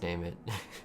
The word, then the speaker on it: Nime: And it's actually pronounced Name It.